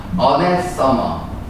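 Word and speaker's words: anathema: 어네서머 라고 하죠. 원래 맞으면 어네서머인데 뭐 발음 시험 문제 아나운서다.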